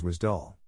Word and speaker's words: WSDL: an interface between web service applications wsdl is pronounced as was dull uddi uddi is an acronym for Universal description